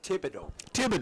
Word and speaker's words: Thibodeau: Thibodeau. Yeah, it's pronounced the H.